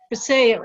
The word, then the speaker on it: Vasayo: So can you tell us a little bit about the company and what Vasayo, is that how it's Vasayo. Vasayo is how it's pronounced.